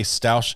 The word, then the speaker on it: Stauch: just want to say stouch is pronoun is pronounced like stoke Stoke so uh that's